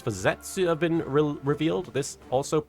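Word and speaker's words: Zeztz: But yeah, Anarchizer, the first forms and henshin sounds for Zetsu have been revealed. This also includes a pronunciation. It's supposed to be Zets, like the letter itself.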